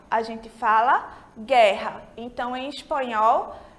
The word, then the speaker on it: guerra: encontro dessas duas letrinhas, vem antes das vogais E e I, a gente não pronuncia a letra U, né? É igual ao português. A gente não fala guerra, a gente fala guerra.